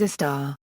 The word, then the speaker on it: istar: In Hiligaynon it is pronounced as a star, and means to live location, compare with the Hiligaynon word puo.